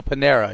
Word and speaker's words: Panera: You know that, how do you say that word that I mispronounce all the time? The bread company? Oh. Merida? Panera? Oh, Panera.